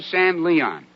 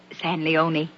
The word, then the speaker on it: San Leon: Rancho San Leon. It's pronounced San Leone. Ain't written that way.